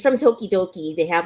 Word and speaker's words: Tokidoki: It's Tokidoki. Tokidoki. It sounds Japanese, but it's Italian. It's like okidoki with the D or with the T.